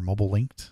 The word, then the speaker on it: Mobilinkd: link D I guess it's our mobile linked is how they pronounce it um you're going to